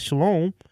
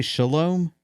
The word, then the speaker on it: shalom: So Did that you can say be shalom? not shalom, shalom. Oh, okay. I was like, shalom is Shalom.